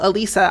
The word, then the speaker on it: Alisa: if i give them a really simple way to remember it which is a singular lisa they still will get